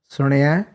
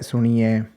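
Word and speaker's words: ਸੁਣਿਐ: And then on the Rana, there's actual Sahari, so it's Suniai, and you often hear things like Suniai, which would be a Bihari on the Nana, and then it would be a Lam on the Ada.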